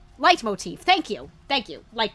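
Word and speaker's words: leitmotif: this occasion how do you how do you pronounce this word light Motif light Motif thank you thank you light Motif all right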